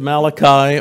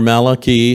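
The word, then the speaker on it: Malachy: It all begins with Malachi, or Malachi, however you would like to pronounce it.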